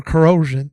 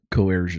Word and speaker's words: coercion: Combmes, 55, faces charges of racketeering, conspiracy, sex trafficking by force, fraud, or corrosion. How do you say that? Coercion.